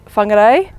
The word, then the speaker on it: Whangarei: For example, we are moving to a different location on Sunday, which is Whangarei. People are getting thrown, I think, by the WH, so I've just been teaching them that's an F sound.